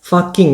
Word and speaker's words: Fucking: Austria doesn't pronounce it Fooking but in their native German language it's pronounced FOO-KING This place existed since